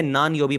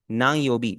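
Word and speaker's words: 何曜日: यही गलती करते हैं वो इसे नान योबी पढ़ा रहे होते हैं असल में अगर आप किसी नेटिव को प्रोनाउंस करता सुने वो इसे क्या पढ़ेंगे ना योबी नांग योबी यानी इसका जो बीच वाला अन है उसकी आवाज को आप जो उर्दू वाला जो नून गुना होता है वैसे आप इसे प्रोनाउंस करेंगे पूरा उसे हार्ड एन की साउंड नहीं देंगे आगे मूव ऑन करते हैं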